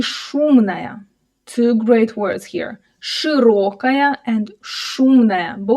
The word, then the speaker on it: широкая: And again, watch out the о in the word широкая. Широкая. Here, it's not reduced, because as we can hear the stress falls exactly on or so in this